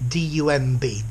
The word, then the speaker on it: dumb: This dumb part, D-U-M-B, dumb, the B is silent, talks about somebody who cannot speak.